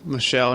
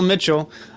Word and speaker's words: Michelle: And before we let you go, Pamela Michelle, not Pamela Mitchell, you have this great charity.